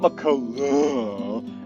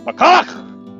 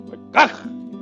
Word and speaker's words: McCulloch: Now remember, everyone watching it, it's not McCulloch, it's McCulloch. McCulloch. Yeah. You pronounce the yak.